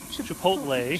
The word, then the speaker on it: chipotle: Some garlic powder and our mango chipotle.